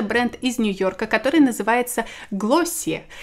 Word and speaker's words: Glossier: состояние исступления это бренд из нью-йорка которая называется классе и этот бренд который произносится именно так вроде по словам американских блогеров и часто в америке даже критикуют тех блогеров которые говорят неправильно которые говорят glacee р то есть надо как-то говорил о силе